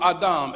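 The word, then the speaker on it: אדם: Phonetically, it is pronounced in the Hebrew Adam, A-D-H-A-M, but it means black.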